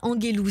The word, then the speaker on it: Angelou: qui le dites d'ailleurs, c'est Maya Angelou. C'est comme ça que son nom de famille se prononce.